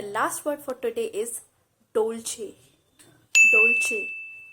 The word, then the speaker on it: Dolce: of these pronunciations are correct one is american pronunciation and the other is british pregnancy so the last word for today is dolce dolce it's not dolls it's dolce you might heard about dolce gabbana it's a